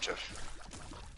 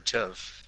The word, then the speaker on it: GIF: It's pronounced GIF. Oh, I'm gonna shoot you. Well, the creator of the GIF said it's GIF.